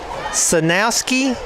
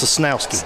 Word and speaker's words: Sosnowski: Sanowski is the winner of 2 tickets for the Taste of Monroe. We will have more chances to win next week. That's Sosnowski. Sosnowski.